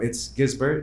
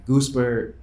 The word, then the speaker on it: Guisbert: which pronunciation had gizbert um it's gizbert it's spelled gu i s b r t so it's not like it's a it's a kind of a hard name to pronounce um and even for me like growing up I was like how like how am I supposed to pronounce it my dad would say Gober and I never liked